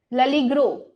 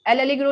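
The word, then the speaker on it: L'Allegro: वो लड़की, ओके वो ललीग्रो बोलती है इसको, एल एलिग्रो नहीं बोलती, वो कहती है ललीग्रो, मतलब हम एल को अगर अलग बोलेंगे तो वो एल हो गया, तो वो ललीग्रो बोलती है, तो ये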